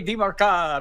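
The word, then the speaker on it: Demercado: Mario DiMarcado.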